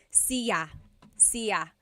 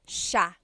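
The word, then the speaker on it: siya: the pronunciation it looks like it should be pronounced sa cia but it's actually pronounced sha sha so the s i y it's a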